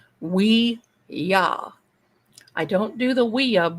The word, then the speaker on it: Ouija: I don't do the would you board would you or Ouija or actually it's pronounced wea.